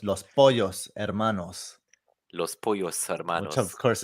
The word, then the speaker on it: Los Pollos Hermanos: should be pronouncing this so polo is is italian but in spanish the double l becomes a yeah so it's los pollos hermanos los pollos which of